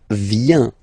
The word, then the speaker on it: vient: Okay, then il, elle, vient, final T not pronounced.